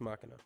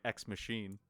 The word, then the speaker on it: ex machina: haven't seen it but that's how the words pronounced oh is it yeah but it looks like machinae yeah oh okay well I've been saying it wrong this entire time at first I was saying X machine but and then ex